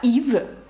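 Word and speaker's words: Yves: подивіться ще раз як пишеться ім'я Ів і ви бачите ес наприкінці і ви знаєте що воно ніколи не читається марка косметики lнком наприкінці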